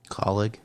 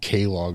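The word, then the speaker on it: Kaulig: is going to um i never know how to pronounce his team name colleague thank you because i always take like k log or something uh and he will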